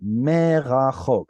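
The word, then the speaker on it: מֵרָחֹק: It's me with an accent. Me with a dagesh means from. But if the next letter is a guttural, no dagesh, it lengthens the vowel. Merachok.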